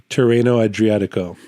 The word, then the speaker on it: Tirreno Adriatico: it up so I can say it correctly terano adriatico okay so that was going on at the